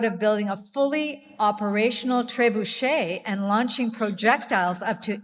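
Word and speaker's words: trebuchet: Did not know how to pronounce Trebuche. Yeah. So, I had to look it up. I googled it. No, I'm impressed. It's Yeah. I thought it was Trey Budget.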